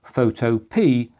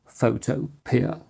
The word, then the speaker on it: Photopea: Oh, and just to note, it is pronounced Photopea and not Photopear.